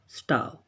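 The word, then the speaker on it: starve: वी two will स्टार्व, या आर silent रहेगा आपका, स्टार्व, तो हम भी भूखे मरेंगे।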